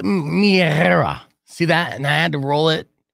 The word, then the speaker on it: Mia: But again, I say Mia, and that's not even how you say her name. But yeah, you could follow her if you could spell out Mistress Tentacle or Tackle Drum. I'll have her explain it. And it's true. It's Mia.